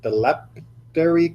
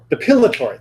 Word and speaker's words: depilatory: They may be using a, I always mispronounce this word, dilapidary cream, right? Some sort of, what? Depilatory, thank you.